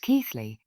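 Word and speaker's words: Keighley: air valley at Bingley, Keithley, pronounced Keithley, and in the extreme distance the hills around Skipton.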